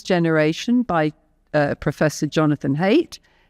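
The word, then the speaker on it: Haidt: by uh Professor Jonathan hate his name is not he doesn't hate it's not spelled that way it's spelled in an other weird way but um he said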